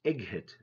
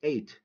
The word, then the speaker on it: eight: Don't say egg hit. It's eight. And this one, wait.